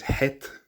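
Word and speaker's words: חית: the H is sort of swallowed, it's not pronounced. So that can happen. Now, the second letter is het.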